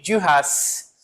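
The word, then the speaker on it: Duras: Por exemplo, Margherite de Ras, eu pronuncio o S Magu de Rass.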